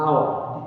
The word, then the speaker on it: hour: the energy honest is silent we do not pronounce the edge at the beginning of honest honest right the hour the ages also silent here and the last